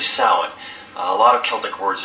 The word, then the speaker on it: Samhain: It's the spelling, you would think it's pronounced Samhain, but it's actually Samhain.